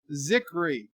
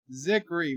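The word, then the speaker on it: Zicree: Sci-Fi says, bird of prey, it's pronounced Zikri. Zikri, Mark Zikri.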